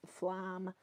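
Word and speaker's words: Flåm: Flom is spelled FLA with a circle over it, M, or you could just write it Flam, and you would find it, but it's pronounced Flom.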